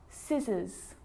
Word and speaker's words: scissors: depth and doubt now the letter C can cause a few problems because it's often silent after the letter s like in these very common examples they're quite tricky muscle muscle scissors fascinate scene scenario muscle scissors